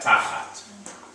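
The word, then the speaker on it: תחת: So in the same way we have tachat. Tachat. Again, medium length vowel. It's going to sound like you're leaning on the first syllable.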